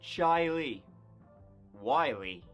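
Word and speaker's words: Chili: We start off in Rochester, New York, and we're going to the town of Chile, though it's pronounced Chile Wy, where in 2009, 17-year-old Britney Drexel wasn't was not having a great time of it.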